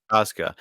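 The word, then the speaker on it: Procházka: Yuri, Jury, and if you're gonna call him Prohashka or whatever the hell you pronounce his last name before that. Yuri. Figure it Yuri out. Prochazka.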